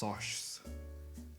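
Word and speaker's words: Socs: In the first couple pages of the book, Pony introduces the rivalry between the middle-class greasers and the Westsiders Sox, pronounced Soshs.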